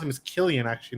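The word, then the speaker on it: Cillian: why Christopher and I've heard it's how you pronounce him as Killian actually not yeah so Killian Murphy I haven't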